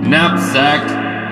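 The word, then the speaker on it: knapsack: cave for that one napsack silent cave for that one as well meat another silent Kate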